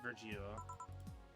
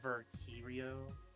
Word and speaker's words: Virgilio: bartender you look winded Virgil it's pronounced virtue Rio no I'm pretty sure it's the Geo you said as much